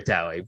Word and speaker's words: Taue: Obviously, like Taue doesn't have actually more than one syllable, but they just stretch out the syllable there.